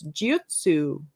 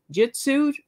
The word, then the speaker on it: Jyutsu: And it's Jyutsu. Jyutsu, like you think of jujitsu, the martial art, is J-I-T-S-U. That means technique.